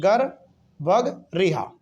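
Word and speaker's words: गर्भगृह: जी गर वग रिहा इसको आप ऐसे बोल सकते हैं गर भग रिहा ठीक है एक बार दो बार आप इसको एक दो बार प्रोनाउंस करेंगे समझ में आ जाएगा गर गर बग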